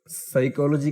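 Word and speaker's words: psychology: है साइकोलॉजी के साथ साइकोलॉजी के स्पेलिंग बहुत मजेदार है इसमें पी है पर साइलेंट है ह है वह भी साइलेंट है तो सच्चाई चलो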